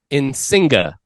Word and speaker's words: Insinga: I get it wrong again? Almost. Pronounce it with me. Insinga. Insinga. Yeah. Insinga. Insinga. There you go. That's it.